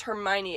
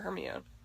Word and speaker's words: Hermione: your name wrong so she says it phonetically in the book as Hermione explaining it to Victor crops like yeah that was just me trying to get people to stop calling her Hermia Hermia Ron Weasley U